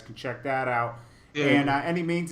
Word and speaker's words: Annimeanz: life guys he's y any means give them your um social media um it's everywhere for like Instagram Twitter it's uh a NN i m e a n z and it's pronounced any means um I got a